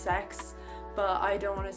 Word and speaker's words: CeX: our local like uh CeX or C ex if you know I think it I think it's actually pronounced sex but I don't want